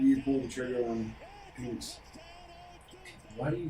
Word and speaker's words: Penix: yeah Jude BL blur all those he says Phoenix uh I would say two years two years